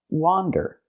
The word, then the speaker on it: wander: from this word and the word is pronounced wander again it has the open a sound like hot and stop W wander not Wonder